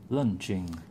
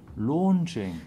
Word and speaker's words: launching: Lunching. Lunching. Launching. Launching. There. How do you pronounce the A-U? O.